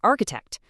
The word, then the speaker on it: architect: Take the word chef. It comes from French, so that ch makes a soft sh sound. But then you have architect, which comes from Greek, and those exact same letters make a hard c.